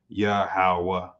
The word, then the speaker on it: Yahweh: So the proper pronunciation without the diacritic marks would be Yahweh.